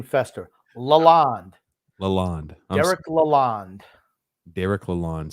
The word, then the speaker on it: Lalonde: How do you pronounce his last name again? One more time. Fester. First name Uncle, last name Fester. Lalonde.